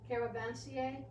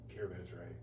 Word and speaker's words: caravanserai: Caravansier? Caravanserai.